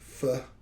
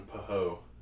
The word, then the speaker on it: pho: Pasta, mince pie, pho, or canafe. I'm going pasta. I'm going paho. That's not how you say it. That's the worst way you can say it.